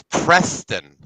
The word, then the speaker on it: Preston: You all don't say it correctly. It's Preston.